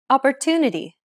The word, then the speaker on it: opportunity: Opportunity. Opportunity. The stressed syllable tu in opportunity is pronounced longer than all the other syllables.